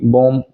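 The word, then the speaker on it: bomb: जब भी एम के बाद बी लगा हो तो बी की कोई साउंड नहीं आएगी। जैसे कॉम, बी ओ एम बी, बॉम और प्लम्बर, इसको मोस्टली लोग गलत गलत बोलते हैं।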